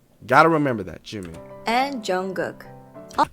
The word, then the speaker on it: Jungkook: And Jungkook. I just say J Cook, but you guys know who I'm talking about, Jungkook.